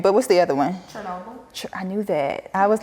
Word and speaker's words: Chernobyl: Chernobyl?